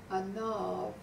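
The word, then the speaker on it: ענו: Anav is spelled ayin, and then nun, and a vav.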